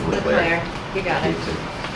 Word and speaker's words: Leclerc: I know you Okay, do, it's Leclerc.